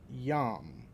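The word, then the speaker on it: יום: called the light day now that's yum is how that's pronounced so yum right here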